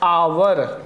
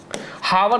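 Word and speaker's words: hour: क्योंकि इसको क्या पढ़ा जाता है? आवर। ठीक है? आवर। ठीक है? हावर नहीं पढ़ा जाता क्योंकि इसमें एच साइलेंट होता है।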